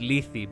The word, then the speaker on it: Lethe: You didn't say it correctly, but hey, I I like the attempt in Greek here. It's not Lethe, it's Lethe, but whatever.